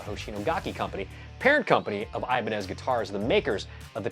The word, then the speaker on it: Ibanez: Side note, I probably, like you, have pronounced this Ibanez my whole life because I'm an American and we are exceptional at mispronouncing other languages' words.